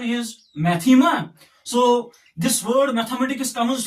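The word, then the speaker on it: μάθημα: as Mu Alpha Theta ITA Mu Alpha whose pronunciation is maema so this word mathematics comes from this Greek word maema and its meaning is knowledge what some say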